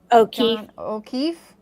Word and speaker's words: O'Keefe: when evil entered John how do you say that Oki o'keef o'keef o'keef yeah yeah he said okay hold